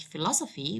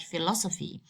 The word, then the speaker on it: philosophy: That is, for instance, if you go to the word like philosophy, we don't have to say it like philosophy.